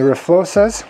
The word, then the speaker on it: RFLO-XA: And the RFLO-XAs, which I asked, and that's how they told me to pronounce it, are a competitor to these inverted forks.